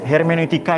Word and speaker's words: hermeneutik: Hermeneutika ini mula-mula dikenalkan Paul Ricoeur. Ya, hermeneutis ini tafsir ya. Ini tulisannya hermeneutika. Cara bacanya hermeneutik, studi tentang historisitas, sejarah di satu sisi, dan normativitas, nilai-nilai di sisi lain.